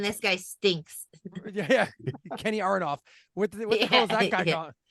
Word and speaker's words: Aronoff: And for the record, just to dump on John Mellencamp a little bit more, Kenny Aronoff, you were saying the name wrong, so I didn't know who the fuck you were talking about.